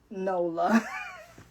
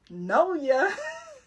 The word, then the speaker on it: NOLA: Okay, I don't know why I kept thinking it was Noya. Every time because for some reason in my mind, the L is silent.